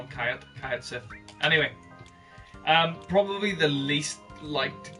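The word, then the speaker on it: Cait Sith: I actually just pronounced this Kayat Sith.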